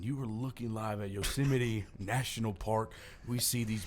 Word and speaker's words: Yosemite: Okay, I want you to say it wrong, though. Yosemite. No, that is incorrect. Ah! Some people say Yasmite. Nope. Also wrong. No. Also wrong. That would be Yosemite.